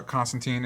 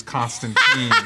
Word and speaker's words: Constantine: frustr There's I I overall I enjoy uh Constantine. And before I get a lot of crap for it in the comments, I've decided that this version of the character is Constantine.